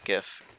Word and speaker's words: GIF: name overlaid image repeating gif or or jiff depending on how you pronounce that it's I think either way is technically correct it's up to you playa it's nostalgic as